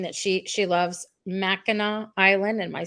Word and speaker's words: Mackinac: Julie's saying that she loves Mackinac Island.